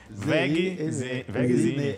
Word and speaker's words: Wegezine: W-E-G-E-Z-I-N-E. Vegzine. Não é Zeni.